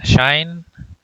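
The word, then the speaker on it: sinh: of saying hyperbolic cosine so you can say kosh then instead of hyperbolic sign so you may call it as shine shine cosine um so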